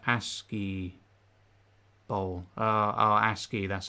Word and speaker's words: ASCII: Oh, it's like ASCII bowl. ASCII, that's how you pronounce it.